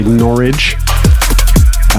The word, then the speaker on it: Norwich: playing at overview nor we are in Norwich whereas the locals say norch yeah we're going to